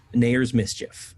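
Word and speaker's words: Nathair's Mischief: pronunciation from uh the forgotten realms wiki nair nayer's mischief yeah i know it's spelled nathar that's how i pronounce it yeah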